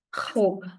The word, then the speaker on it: robe: It is it's so it's not hope, it's not robe. It's a typical R sound which will take some time which is okay but you have to learn eventually.